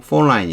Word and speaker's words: Pauline: 심사평단에게 비난을 받았지만 요건 to film critic Pauline Kael 뭐 어떻게 발음해도 상관없는데 이건 Pauline 이렇게 발음해요.